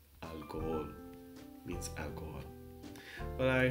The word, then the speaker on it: alcohol: say al cool no H is silent but it gives you a pass so you have to pronounce these two all separately alcohol alcohol means Al Gore but